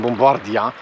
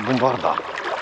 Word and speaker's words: bombarda: Kiedyś mówiłem bombardia, no i żeście na mnie krzyczeli, że to tak się nie powinno wymawiać, ale może racja. Powinna być bombarda.